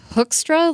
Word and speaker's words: Hoekstra: as it's spelled its Hoekstra like Captain Hook but you spell it